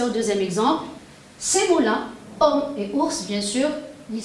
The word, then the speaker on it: homme: Je dis homme. Homme, c'est un mot qui commence par un H muet. Je ne le prononce pas.